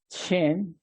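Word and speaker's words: שם: Entonces, la palabra nombre en hebreo se pronuncia Shem y se define como apelación, como marca o memorial individual.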